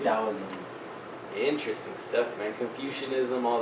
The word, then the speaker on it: Taoism: But yeah, it sounds but like it's pronounced with a D. Taoism.